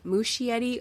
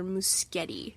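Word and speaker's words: Muschietti: Welcome to Dair on HBO directed by Andy Mushietti or Muskeetti. I've been saying it wrong the entire time.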